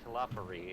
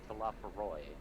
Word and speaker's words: Talafaroy: And Eddie's been mispronouncing it because it's not Talafari, it's Talafaroy. I know I'm really bad at pronouncing things, but I was sure about that one. Nope, because you actually do hear it. I know, and I felt like that's what I heard it. It's Talafaroy. Talafaroy.